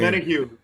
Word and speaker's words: Omenihu: He had a very how do you pronounce that name? Omenihu.